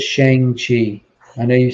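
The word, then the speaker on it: Shang-Chi: we could debate like is it pronounced shangshi or shang chi it is shang chi i know you say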